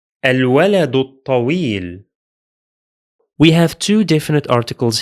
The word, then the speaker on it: الولد الطويل: The first Hamza is pronounced because it's at the beginning of the speech. The following lam is pronounced because it is Lunar. The second Hamza is silent because it's in the middle of the speech, and the following lam is also silent because it is solar.